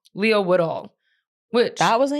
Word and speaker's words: Leo Woodall: Leo Woodhall? What's his name? Leo Woodall.